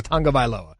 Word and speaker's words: Tagovailoa: We couldn't pronounce his name at the time. Like, it's Tagovailoa.